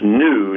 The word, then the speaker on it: GNU: take some spelling lessons the animal spell GNU is pronounced new not good news I was wondering why